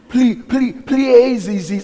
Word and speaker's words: Pleiades: God and the stars, and they can't even pronounce it right, saying Orion. I say Orion. Pleiades.